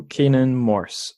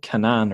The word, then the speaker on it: Canaan Morse: time right so we have on the show Kanan Morse oh I always do this is that a